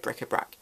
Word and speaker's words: bric-à-brac: and not know that brick-a-brack is spelt bric-a-brac and said brick-a-brack it's it reminds me